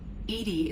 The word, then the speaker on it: EDI: is a joke why are you named Edy Edy is the phonetic pronunciation of e di that is an acronym